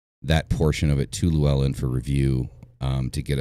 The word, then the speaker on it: Llewellyn: get published through uh was it lillian lulin lulin how's it pronounced it's often down the tip where matt's matt's published through them llewellyn that's it lou ellen i would like to